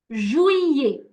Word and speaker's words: juillet: Once again, mes vacances ont lieu en juillet. Juillet. It's July would basically look something like juillet. Juillet. Juillet. Okay? We do not pronounce the double L that you see there at all.